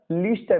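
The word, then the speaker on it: Leicester: ठीक है बच्चा, मेरिनो नस्ल की बात करें तो मेरिनो, इसके साथ लिंकन, लीस्टर बेटा है ना, इसकी स्पेलिंग है लीस्टर ऐसे लिखते हैं, लीस्टर, कॉरिडेल, साउथडान, रैम्बुलेट।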